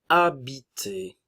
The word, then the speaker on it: habiter: Le verbe commence par un H muet.